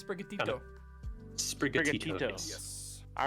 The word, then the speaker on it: Sprigatito: Sprigato. Yeah, you're really close actually. It's Sprigatito.